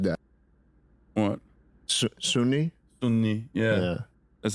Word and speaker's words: Sunni: gotcha I liked how you said that what Sunni Sunni yeah yeah that's how you say it